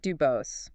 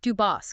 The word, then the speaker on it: DuBose: So Isaac DuBose, born around 1660 in Dieppe, that's D-E-E in